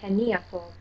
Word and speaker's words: heniafu: But if there was a four-syllable long word, then the syllable that is third from the end would get the stress. Like in the word heniafu.